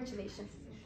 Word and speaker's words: chelation: give iron chalat right chattin is how you pronounce itation okay in this case you're going to give iron chelation makes sense guys okay let's